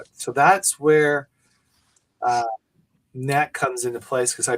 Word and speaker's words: Nat: Or she said, nope, it's Nat.